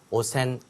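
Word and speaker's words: 汚染: 오염이기 때문에 이 염자를 뭐라고 읽고 싶어요? 자꾸만 n이라고 읽고 싶군요. 하지만 on 1번 아니다. 1번의 오염, 더러워진 오염은 뭐라고 부른다? 오센이라고 발음을 한다.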